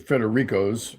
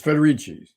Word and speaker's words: Federici: sorry to report that feder Rico by the way it's spelled the same way as Danny Federico of the Easter band well he's federici federici yes it's federici yeah federici okay okay